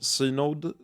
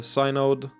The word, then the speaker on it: synod: So in the end, probably a middle path, with the 7 high priestesses forming the official synod?